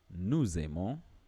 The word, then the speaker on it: nous aimons: For instance, you will hear me say here, nous aimons, and that is because we are, if you read this separately, this is nous, and this is aimons.